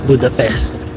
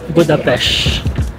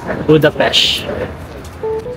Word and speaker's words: Budapest: I just found out tamang pronunciation pala ng Budapest is not Budapest, it is Budapest. Ang S, ang S nila is SH. SH not S. So it should be Budapest.